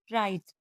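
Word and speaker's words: write: तो डब्ल्यू आर और डब्ल्यू एच से शुरू होने वाले वर्ड्स में डब्ल्यू साइलेंट रहता है। जैसे राइट रॉन्ग रिंग रैप और हुज़।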